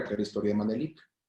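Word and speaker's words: Menelik: Y se pronuncia Manelik, no se pronuncia Manelich, Manelik.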